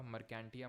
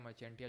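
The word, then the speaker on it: Marchantia: और मर्चेंटिया भी यहाँ पर लिखा होगा, मर्केंटिया, मर्चेंटिया, जो भी आप प्रोनाउंस करो, ठीक है।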